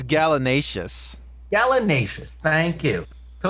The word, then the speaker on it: gallinaceous: Noun, a large North American gallinaceous, can you pronounce that word? Gallinaceous bird. What? That is domesticated in most parts of the world. I think it's gallinaceous.